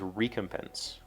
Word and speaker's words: recompense: I have heard this and have always said this recompense. The pronunciation key says recompense. That just sounds very wrong to me.